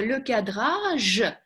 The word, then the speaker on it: le cadrage: Слово le cadrage. Я надеюсь, что все произносят хорошо, и «же» у них яркое «же», и вообще ни капельки не похоже на «ше».